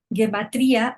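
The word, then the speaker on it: gematria: Guematría o guematria en hebreo y su transliteración es guematria pronunciado guematría en hebreo rabínico.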